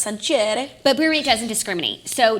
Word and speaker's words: Sancerre: For me, it's a bottle of Sancerre, but you know, I think it's actually pronounced Sancerre.